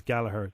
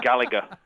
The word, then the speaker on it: Gallagher: you know that your your pronunciation of your surname really is Gallaher I know yeah I know but being a mancunian and it and having the letter g in it we are juty bound to pronounce that G it's like if I